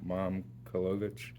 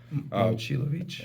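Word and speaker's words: Momčilović: Coach, I apologize in advance for not pronouncing the name right, but Milan Momkolovich, Momcilovic.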